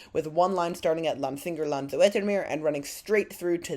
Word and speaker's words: Lansingerland-Zoetermeer: Okay, we're about to ride that as the train just pronounced it, Lansingerland-Zoetermeer, so I was pronouncing somewhat wrong.